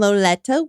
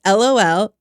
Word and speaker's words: Loleta: Charlie and Loletta Webb. Loletta. I think that's how you say it. It's Loleta.